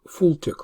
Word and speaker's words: FLTK: another open source library fltk or often pronounced full tech library which makes possible to